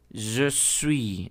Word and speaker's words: je suis: Je suis, aquí la S no se pronuncia y la letra U tiene el mismo sonido aquí cerrado con esa U.